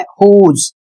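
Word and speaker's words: whose: नीचे कुछ शब्द हैं हुज इसमें भी डब्ल्यू साइलेंट है।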